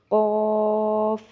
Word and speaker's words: قاف: کے ساتھ ہی ہوگی۔ اسی طرح اکثر لوگ ان دونوں کو باریک کاف پڑھ دیتے ہیں، کاف کاف ایسے کر کے، جبکہ اس کو موٹا پڑھنا ہے، قاف کاف۔ یقیناً آپ کو سمجھ